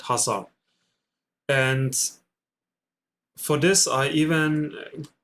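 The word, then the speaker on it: Khazar: hassar people so decay in Kazar is not pronounced so it's silent it's called hassar and for this I even got me another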